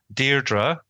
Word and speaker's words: Deirdre: So we are pronouncing Deirdre, which is the Irish Irish pronunciation of name, and then Daire, which